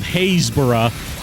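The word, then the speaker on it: Happisburgh: for you or that uh the English Village of hayborough is spelled ha a p p i s b u r g h yeah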